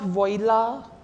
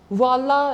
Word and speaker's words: voila: or there it is like not viola or I don't think it can be pronounced in some other way also voila is the correct voila this hobbies I don't